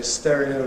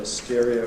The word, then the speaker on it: stereo: All the same, so people tend to say ‘stereo’ and ‘inherent’ rather than the older and . ‘Stress’: green line, ‘applicable’ or ?